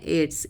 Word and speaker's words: aides: हम इंग्लिश के एक वर्ड में बोलते हैं एड्स। इसकी स्पेलिंग होती है AIDS, AIDS।